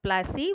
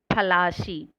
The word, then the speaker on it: Plassey: SHI. The Battle of Plassey was a major battle that took place on 23rd June 1757 at Plassey. Plashi. The British pronounced it as Plassey.